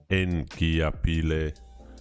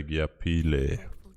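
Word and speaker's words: Ngiyaphila: So what I've seen is like the N is silent in Zulu. So even though it's N Giapile, you don't say the N. You just say Giapile.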